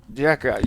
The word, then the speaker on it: jicama: Jicama.